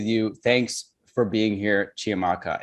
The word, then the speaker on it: Chiamaka: Thanks for being here, Chiamaka. And am I pronouncing that properly? Yeah, you're good. Chiamaka, yeah, Chiamaka, you're doing well.